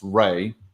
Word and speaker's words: Rai: discussed um which was the case i pronounced rai r-a-i um and they pronounced rey i think kara ulsterberg uh referred